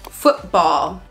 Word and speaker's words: football: glottal T all right when a syllable ends in t and it is followed by a consonant sound we're gonna use the glottal stop for example football I'm not saying Football let's play football now I'm saying football okay now some people